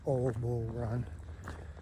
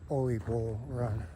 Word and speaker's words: Ole Bull Run: He said most people mistakenly call it Old Bull Run. It's spelled O-L-E, but it's actually Ole Bull Run, named after some guy, Ole Bull.